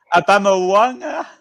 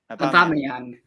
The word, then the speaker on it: Aubameyang: Abamawanga. Bubble one. No, wait. Say DJ Abamyang. Vision. Say it right. Say it right. Say it right. James Hype. Abamyang. About what? Abamyang. Aubameyang.